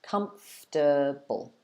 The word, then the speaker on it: comfortable: you see this word you should pronounce it with three parts comfortable comfortable uh crispy says like vegetable